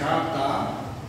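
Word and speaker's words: חטא: O termo pecado, no hebraico, no grego e no latim, as formas verbais do hebraico é Ratá, ou Aratá, escreve com 2 H's, a pronúncia é Ratá, ok?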